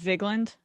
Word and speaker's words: Vigeland: Just you skip the E, just Vigland?